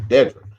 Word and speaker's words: Dedra: That's how he pronounces. Dedra.